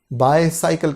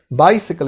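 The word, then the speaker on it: bicycle: बायसाइकिल के बजाय बाइसिकल इज the correct pronunciation, बाइसिकल, बाइसिकल।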